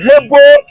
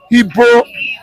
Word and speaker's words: Igbo: Our name in those days, Hebo, Igbo, Ebo, then Igbo.